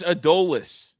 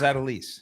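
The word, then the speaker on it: Adolis: It's Adolas. I thought it was Adelise.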